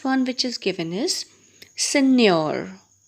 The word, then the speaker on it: Signor: And the last one which is given is Signor. Signor. So as we come across these words, we learn to pronounce them again, bit difficult to pronounce.